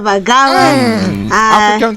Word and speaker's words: Bagala: right first of all my name is vagala what is what yeah african queen you've gone